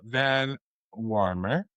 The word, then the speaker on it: Van Wormer: Well, Laura Van Warmer. Rhymes with Dormer.